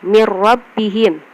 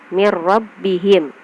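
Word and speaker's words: من ربهم: Selanjutnya mirrabbihim, nun mati bertemu dengan ro, mirrabbihim.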